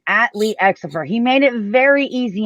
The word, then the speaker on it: Xopher: Is it Xopher or Xopher? Xopher. Got it. It's a hard X. Pronounce the X. Hard X.